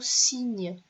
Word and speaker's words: cygne: Comme par exemple dans le mot cygne. Le cygne, l'animal blanc. Donc, ça s'écrit C-Y-G-N-E.